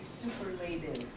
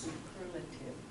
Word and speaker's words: superlative: So an adjective, if you were describing something, and said, this is superlative. That's how you pronounce it. It's not, it looks like it should be superlative, but it's pronounced superlative.